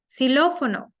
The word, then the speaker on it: xilófono: One example for that sound will be the word xilófono. Xilófono. Now, in most cases, the letter X sounds like a letter S.